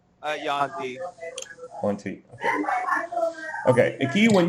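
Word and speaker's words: Yuan-ti: Which is your pronunciation? Yaun-ti.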